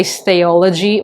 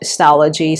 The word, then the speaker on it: Stalogy: I think they might have misread it, but how do you say stationery and technology? So, Stalogy. So, Stalogy. I I don't I'm not sure, but it is pronounced as Stalogy.